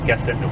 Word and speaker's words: Castelnau: Castelnau. Wow. Castelnau. Not spelled the same. It's spelled with an EAU though.